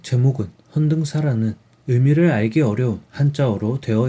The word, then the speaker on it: 헌등사: 않아도 전달되었습니다 책 제목은 헌사하는 의미를 알기 어려운 한자어로 되어 있습니다 헌사 견당사 똑같이 발음되는 단어입니다 견당사 일본의 7에서 9세기